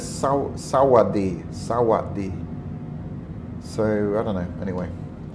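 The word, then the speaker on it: สวัสดี: call it that, because the correct pronunciation, this means hello in Thai, but some people write it with an S. And I've seen it written with a T as well. But the sound is Sawadi.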